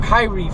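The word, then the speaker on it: Khairi: by the name of Kyrie Fort. Kyrie Fort. First of all, looking at the way his name is spelled, you never think you'd get Kyrie out of that, but, it is what it is.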